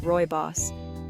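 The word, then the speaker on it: rooibos: royos tea the naturally sweet caffeine-free Wonder tea royos pronounced Roy boss is a naturally sweet tea made from the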